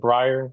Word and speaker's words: Breyre: Breyre, am I pronouncing that right? Is it Breyre? Oh, yeah. Yep.